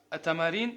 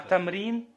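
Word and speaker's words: تمرين: Говорит, тамарин, это что такое тамарин? Урок. Упражнение, да? Упражнение, тамарин. Аль-накра. А тамрин, Тамрин.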